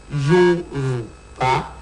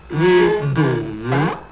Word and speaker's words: Yoruba: The correct pronunciation is Yoruba. Yoruba.